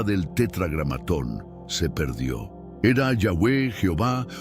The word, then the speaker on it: Yahweh: que se convirtió en Jehová. Pero la mayoría de los eruditos hoy están de acuerdo en que Jehová es un híbrido hecho por el hombre, no la pronunciación original.